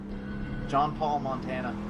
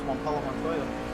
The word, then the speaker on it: Juan Pablo Montoya: John Paul Montana. No? Really? I've heard you say that before. It's fun. I could say it like he does, Juan Pablo Montoya. That's a correct pronunciation.